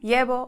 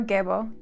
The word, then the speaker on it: Gebo: about the roon yellow it's either pronounced yebo or gebo depending on who you learn from which articles you read